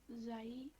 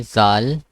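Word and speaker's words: ذال: And then Zai. it's not Zai. Zal. Oh, Zal.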